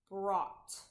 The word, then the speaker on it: brought: O-U-G-H, aw. Br, aw, brought.